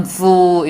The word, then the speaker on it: full: 그래서 배부를 때는 I'm full. 그 다음에 나는 바보 같아. I'm a fool. 이렇게 정확하게 짧은 발음은 짧게 긴 발음은 길게 발음하는 것이 생각보다 우리가 생각하는 것보다 훨씬 중요합니다.